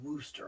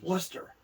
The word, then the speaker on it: Wooster: First of all, they don't like it being pronounced Wooster, I found out. No. And when I found that out, I'm like, okay, this is perfect. How do they pronounce it anyway? Worcester.